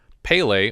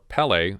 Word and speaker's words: Pelé: footballers, including the world-famous Pelé, or Pelé, as he seems to be pronounced overseas. I've always heard it Pelé. I always thought it was Pelé.